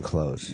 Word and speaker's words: clothes: You're not supposed to say the TH in clothes.